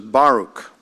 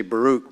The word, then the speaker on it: Baruch: And this is Baruch. I used to say Baruch, but it's Baruch. It's the emphasis on the first syllable.